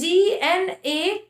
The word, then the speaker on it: gnawed: First is GNAWED. ठीक है, GNAWED. ये नॉड का मतलब होता है चबाना. Another is NOD, Nord. दोनों का प्रोनाउंसिएशन नॉड ही है.